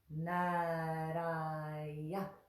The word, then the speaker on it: Nārāya: It's a little bit like a rolled R in Spanish. Nara, nara, nara. We just touch the tongue there and let it draw back down. Nara, nara, nara. Good. The next syllable is ya, just like it looks like. So and that is a short ah.